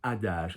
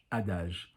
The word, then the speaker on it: adage: That is an adage. So not adage, adage. Soft G, because G followed by an E and an I in French is soft. So adage.